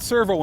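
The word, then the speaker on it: Sirveaux: It's not Servo anymore, it's Servo. It sounds the same, only it's spelled S-I-R-V-E-A-U-X.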